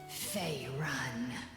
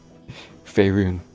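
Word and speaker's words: Faerûn: Fey Run. She still isn't saying it right. Faerun.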